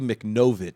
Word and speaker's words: Machnova: and I want to I want to correct you on it's Bobby machnova ch no yeah machnova said I said it wrong but machnova look at